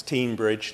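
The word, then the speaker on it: Teignbridge: tinmouth give or close it's very confusing because it's tinmouth and it's teen Bridge so the com the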